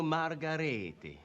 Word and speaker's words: Margheriti: definitely recognize them as Italian names their their pronunciation of their name should be Enzo garlo me gourami and Antonio Margarita Antonio margaretti and Domenico de coco Dominic de coco Bravo